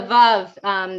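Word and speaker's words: וָו: and va, or the vav. There's a tradition to say it as wow, that a vav is actually pronounced wow, the Masor, like an older tradition.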